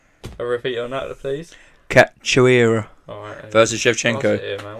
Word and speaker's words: Cachoeira: No, it's Cachoeira, yeah. A repeat on that, please. Cachoeira.